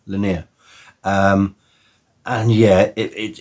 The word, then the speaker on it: Lennier: I always get that name wrong. Lennier.